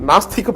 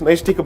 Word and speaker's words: Naishtika: In fact, in the court, most of the time I heard people calling it Nastika Brahmacharya when in fact it's Naishtika Brahmacharya.